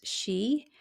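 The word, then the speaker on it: sidhe: So in the in our in the Celtic culture, there's the she spelled s i d h e, but pronounced she.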